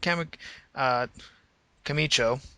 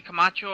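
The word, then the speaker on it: Camacho: Time Players huno and Kam uh cicho I hope I'm pronouncing that right he hasn't been in action that many times I think it's actually kamacho and huno kamacho yeah that's right uh I've seen them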